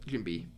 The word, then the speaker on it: Jinbe: And then let's do Jinbei or Jimbel or however you pronounce it. Jinbei, yeah.